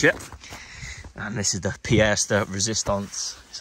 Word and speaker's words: pièce de résistance: And this is the pièce de résistance, that's how you say it.